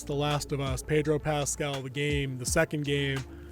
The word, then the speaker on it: Pascal: Pascal.